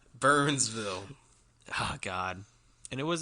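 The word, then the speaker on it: Byrnesville: was asking for it but it wasn't spelled burn it was b-y-r-n-e no no excuse pronunciation burnsville oh god and it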